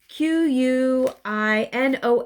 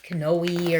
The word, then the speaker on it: quinoa: love quinoa it's spelled q-u-i-n-o-a i used to call it you know canoei or something it's quinoa i love it great